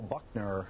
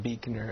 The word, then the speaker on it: Buechner: singer uh many of them have bands Buckner is that how you say it it's actually pronounced Beaker and my band is called Freya Freya Freya